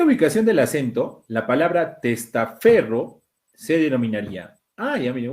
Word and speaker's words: testaferro: Tú no pronuncias testaferro. Ahí llevaría tilde aquí en la tras antepenúltima. Tampoco es testaferro, es testaferro.